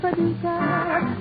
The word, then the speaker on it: Paducah: And I'm delighted over tulip time because I happen to love a resident of Paducah. If you wanna, you can rhyme it with bazooka, but you can't prove Paducah.